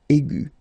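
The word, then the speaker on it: aiguë: Okay, but then you don't pronounce anything because it is exactly the same. So aigu will become aigu.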